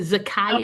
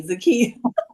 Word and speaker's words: Zakiya: Is it Zakaya? I'm sure that's me. Zakiya. That would be me.